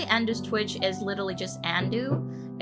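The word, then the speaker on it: Andou: Actually, Andu's Twitch is literally just Andu. It is spelled A-N-D-O-U. Andu, and it's a cute little cleft, hair clip.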